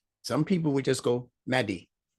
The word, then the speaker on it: Mahdi: So when I say Mahdi, I want you to pronounce the heavy ha.